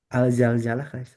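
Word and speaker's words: الزلزلة: Za ini z Za aljalzalah alzalzalah ee atau Alzalzal atau Azzalzalah. Azzalzalah. Yang benar Zai ya.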